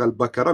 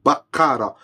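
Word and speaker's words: البقرة: lui conseiller que quand il prononce sourate albakara il doit pas dire albakara mais il doit faire l'effort de dire bakara pourquoi parce que bakara ça a une toute autre signification en arabe ça veut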